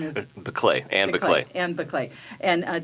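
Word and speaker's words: Biklé: And I'm sorry, I mispronounced your wife's name, so I want you to correct that. Your wife's name is? Beclay, Anne Beclay.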